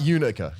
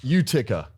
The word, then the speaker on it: Utica: Not Unica. Utica. With a T.